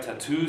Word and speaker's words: tattoo: We have words like tattoo, sati, where the final stress, final primary stress.